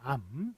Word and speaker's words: 앎: 중에 하나로만 발음해야 됩니다 리을 미음은 뒤에 걸로 발음하니까 암입니다 암 이런 식으로 고르게 써줘야